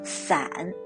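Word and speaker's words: 伞: one yes it's ombrida the umbrella in mandarin is pronounced as san which is similar as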